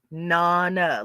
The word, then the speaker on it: Nana: You pronounce my name Nana. It's pronounced Nana, like mama, but it's Nana. It's Italian for grandmother.